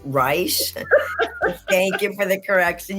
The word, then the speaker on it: Reisch: You can pronounce it. It's Reisch. It's Reisch.